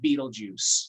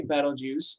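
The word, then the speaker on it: Betelgeuse: i just selected uh has a name that looks kind of hard to pronounce but we usually are fine if you just call it beetlejuice okay um i usually say battle juice and then i'm told that i'm not allowed to say it a third time out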